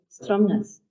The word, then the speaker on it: Stromness: In a provocative essay, Stromness, Morag McInnes points to the fact that real Orcadians, old Orkney folk, say Stromness.